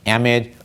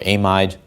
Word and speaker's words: amide: Here's an ester where the oxygen is actually bonded to, again, a carbon chain, and the last possibility, depending on where you're from, is either pronounced amid, or amide, or amid.